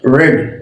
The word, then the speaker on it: read: the past participle too but the past participle we will pronounce red and the and the